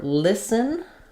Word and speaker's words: listen: So for listen, we have the sound and first syllable stress. The t is silent.